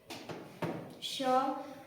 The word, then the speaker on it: श: तालु वाला स, इसको बोलेंगे तालु वाला श। ठीक है, तालु से इसका उच्चारण करेंगे हम श, यानी जीभ को हम पीछे वाले मुंह के ऊपरी भाग के पीछे वाले भाग से जीभ को टकराएंगे।